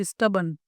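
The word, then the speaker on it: stubborn: तो शी is quite स्टबन। शी is quite स्टबन। स्टबन होता है यह। ठीक है? आर इसमें साइलेंट होता है। स्टबन बोलते हैं इसको।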